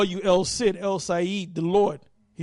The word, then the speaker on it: El Cid: And I think it's pronounced El Said, which means the Lord.